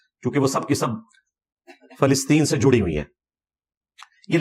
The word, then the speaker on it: فلسطین: یہ لفظ ہے فلسطین، ویسے بولنے میں فلسطین بھی لوگ بول دیتے ہیں. فا کے اوپر زبر ہے، لام کے نیچے زیر ہے، فلسطین. اسی لیے اس کے انگلش میں جو سپیلنگ ہے پیلسٹائن ہے، پی کے بعد اے آتا ہے، یعنی فا کے اوپر زبر لگے گا.